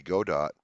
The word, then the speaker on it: Godot: is node based and I say gdo but it could be God dot a lot of controversy about the pronunciation of the name um finding out but